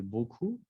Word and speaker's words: beaucoup: Y otra vez, se puso otra vez el trop y el beaucoup. A lo mejor creo que eso se quedó de la vez pasada, pero acuérdense que la P al final no se pronuncia.